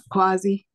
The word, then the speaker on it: quasi: going to say um quazy is that is that how you say it it quqa or Quay it's quasi quazi yeah sorry thank you I